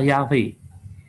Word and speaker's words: Yahweh: Nah, Taurat di dalam Tauratnya orang-orang Samaria itu pelafalan YHWH adalah Yahweh.